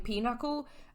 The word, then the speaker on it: pinochle: guy here who's playing Pinochle uh which is a card game that I learned to pronounce from the musical I said Pinnacle for years uh pinochle thank you Lightning Thief musical uh